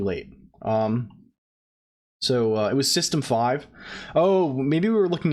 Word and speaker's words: System V: V is system V pronounce system five what the [ __